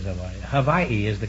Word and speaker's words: Hawaii: I was born in Kalihi in Honolulu, Hawaii. I'm all right. How are you? But we always say that if anybody says Hawaii, Havaii is the correct pronunciation.